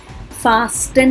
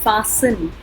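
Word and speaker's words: fasten: हेसन, इसको हेस्टन नहीं बोलेंगे, फास्टन नहीं बोलेंगे, फासन.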